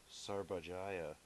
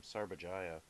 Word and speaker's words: Sarbajaya: the Sarbajaya, that's how you say her name, Sarbajaya, just breaks up and starts crying when she's